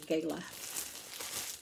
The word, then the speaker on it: gala: these are just right these gala apples or Gaya heard you can pronounce it either way and also they have